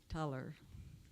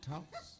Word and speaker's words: Tulys: Oh, Now it's my pleasure to once again introduce Tuller. It's my third time with you today. Tulys. Tulys? Tulys. Somebody told me different. No, Tulys. Tulys. Tulys.